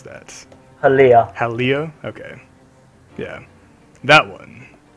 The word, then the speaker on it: Halia: How do you even pronounce that? Halia.